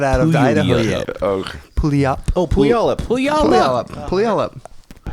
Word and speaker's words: Puyallup: Oh, Puyallup. Oh, Puyallup. Puyallup. Puyallup. I heard someone pronounce it pay I don't know.